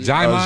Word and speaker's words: Djimon: Jaimon Jaimon.